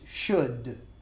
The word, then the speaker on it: should: work less okay now remember it's not shoot it should but the D at the end should that's a pronunciation that is a bit difficult sometimes and the L insured is silent so it should okay the video was